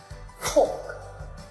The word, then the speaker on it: talk: But the letter L is not pronounced in some cases, such as talk, palm.